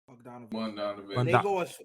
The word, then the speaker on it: Bogdanovic: Bogdanovic.